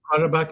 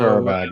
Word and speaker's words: Qarabağ: Qarabağ, I believe it's pronounced. So, Qarabağ, okay.